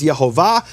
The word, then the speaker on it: Yehovah: But he received this as a tradition that the true pronunciation of the name is Yehovah.